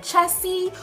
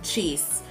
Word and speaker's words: Jace: it right, I'm like, Jace rhymes with face. You know, I have to tell them what it rhymes with because they just can't get it, you know?